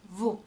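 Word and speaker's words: vous: the plural form is Vu Vu so just like new the S at the end is silent as you can see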